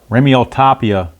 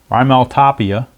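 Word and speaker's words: Raimel Tapia: I think it's pronounced Remiel Tapia is the pinch hitter against the new pitcher Howie Guerra.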